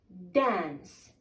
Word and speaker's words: dance: You dance. The E is here silent, so D, A, dan, N, dance, dance. Here the C, pronounce it as S.